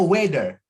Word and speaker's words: weather: Bacanya weather. Weather. If the weather. Ya, agak lebih dekat ke D dibandingkan T ya.